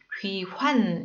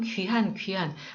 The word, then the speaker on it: 귀환: 네, 이거 발음을 잘해야 되는데 포로 귀환 이렇게 해야 되죠. 그런데 어떻게 하다 보면 귀한.